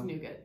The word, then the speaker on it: nougat: Is that how you pronounce it? Nougat. To be nougat. Kidding me. It's nougat, yeah.